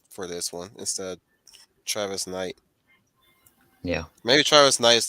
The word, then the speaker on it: Travis Knight: no, it's Trevor Knight. Yeah, Trevor Knight. Pretty sure it's Travis Knight. Travis Knight. Travis Knight. Travis, thank you.